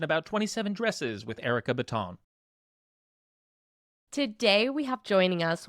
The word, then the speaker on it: Bitton: It's Bitton. It's Bitton. I knew the correct pronunciation. I knew it was Bitton.